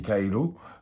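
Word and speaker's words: カエル: grenouille au Japon qui qui se dit kailou euh se prononce comme le mot rentrer et c'est pour ça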